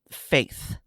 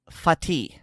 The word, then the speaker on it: Fatih: One of the pistols he referenced is not Faith. It is, in fact, Fatih, and that is Turkish for conqueror.